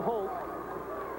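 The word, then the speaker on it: Hoult: foul is on walter holt it's pronounced holt but it's spelled h-o-u-l-t there this won't surprise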